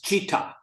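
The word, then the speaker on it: città: t but in Italian you lean on both te's so an example is a um city is cheetah which is c t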